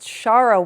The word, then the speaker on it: Shara: Okay, I'm always I'm going to say it wrong cuz it looks like Sarah. It's I Kissed Shara Wheeler.